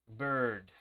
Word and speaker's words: bird: Es como una letra E, pero una letra E pronunciada como muy adentro de tu boca. No es una letra E que se pronuncia aquí en los labios.